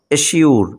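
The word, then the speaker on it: assure: উচ্চারণ স্বর মতো হবে, যেমন দেখো AWSURE, এই শব্দটির সাউন্ড হলো এশিউর, এশিউর। এখানে দেখো এসের উচ্চারণ আমরা সর্বমত পাচ্ছি, কেননা এই শব্দটির শেষে দেখো SURE রয়েছে এবং তার আগে এস লেটারটি রয়েছে।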